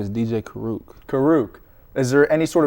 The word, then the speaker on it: Kuruk: it um you know they say k sometimes they throw an in in there say crunk I don't know but U karuk is a native for